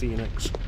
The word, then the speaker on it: Enix: Because it's Square Enix is the name, it's pronounced Enix.